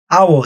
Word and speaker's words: hour: 그리고 시간도 얘기했지만 hour, 시간에 h는 묵음이에요. 발음이 안 나요. 아 때문에 the hour입니다. the hour가 아니에요.